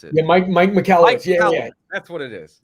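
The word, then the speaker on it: Michalowicz: Andrew McCockowitz or something. I can't even pronounce it. Yeah, Mike McCallowitz.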